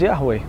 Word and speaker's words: Yahweh: which is the Tetragrammaton, the four-letter expression YHVH, pronounced by some as Yahweh, and declared to be too sacred to be pronounced by many rabbis.